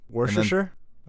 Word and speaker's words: Worcestershire: question here from nelly at cuwenhall can you pronounce wars chestershire worcestershire sauce right here i think so yeah worcestershire